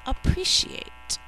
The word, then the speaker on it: appreciate: So even though we hear 2 P's in spelling, we only say 1 in normal speech.